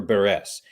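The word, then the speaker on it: Beres: Fitness World 96 Alexander Alexandra burres b-e-r-e-s is how her last name is spelled and there was there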